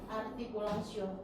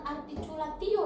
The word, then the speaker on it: artikulasio: Definisi artikulasio. Coba sebutkan artikulasio, bukan articulatio ya untuk membacanya. Coba Uci dibaca. Artikulasio. Oke, bagus. Jadi jangan dibaca articulatio ya.